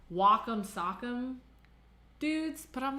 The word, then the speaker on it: Wacom: I'm gonna name this one Wacom, because that's the right way to say it.